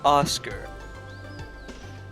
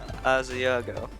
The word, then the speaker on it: Asiago: Oscar. Not quite. It rhymes with False God. Asiago.